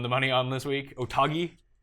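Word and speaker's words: Otaegui: The guy that you won the money on this week, Otagi. Is that how you say it? Adrian Otagi, yeah, and he's been crazy form.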